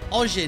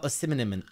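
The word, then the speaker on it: Osimhen: for this one Harrison macka has said Victor oin man mate that's not how you pronounce it or spell it it's Victor oim oim he's a class player there's a couple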